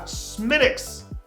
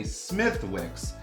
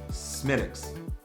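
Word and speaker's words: Smithwick's: and lastly we have smitics now i didn't say that wrong it looks like it should say smithwicks but because the irish language does not pronounce the th sound it is smidx and so this is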